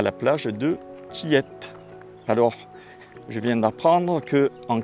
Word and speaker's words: Tillet: à la plage de Tillette. Alors, je viens d'apprendre qu'en créole, on ne dit pas, on dit toutes les lettres.